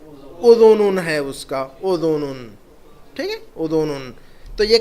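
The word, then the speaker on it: أذن: تلفظ یاد رکھنا ضروری ہے اس کا، شعرن.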